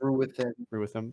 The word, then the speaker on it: Ruathym: Apparently, almost It's pronounced Ruathym.